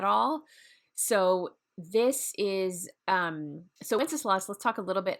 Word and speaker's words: Wenceslas: And there's debate on how to pronounce Wenceslas, but we're just going to stick with Wenceslas. That's how it's spelled.